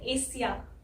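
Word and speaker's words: Asia: लेकिन यहाँ पे सिर्फ एस है, लेकिन इस एस की साउंड यहाँ पे श है, इसलिए ये ए, शी, या।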